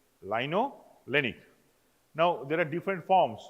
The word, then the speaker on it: linolenic: To remember the spelling, this way we pronounce it: linoleic, linolenic.